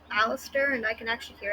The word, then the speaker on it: Alastor: You said Alastar. My name is Alastor.